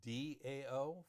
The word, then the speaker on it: Dao: to pinion so the proper uh way is Dao for da though you will see it as Tao pronounced exactly the same it is never pronounced